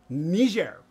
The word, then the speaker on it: Niger: entered uh Niger yes that's actually how you pronounce it Niger so yeah getting cramped in the back seat